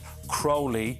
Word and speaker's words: Crowley: absolutely gas isn't it the Crowley is the unusual slightly more unusual pronunciation I and it really annoys me when people call me Crowley I know it's a